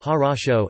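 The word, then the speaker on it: хорошо: can preload NPR John ok equals her oh so pronounced horosho xro goodbye equals do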